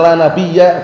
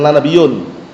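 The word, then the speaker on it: لا نبيَّ: Bacanya la nabiya. Ba'di bukan la nabiyun. Paham ya? Kalau antum baca la nabiyun artinya rusak nanti.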